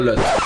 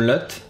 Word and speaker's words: LUT: baser pour créer notre LUT. Je prononce LUT et pas LUT parce que c'est en anglais en fait c'est LUT pas LUT.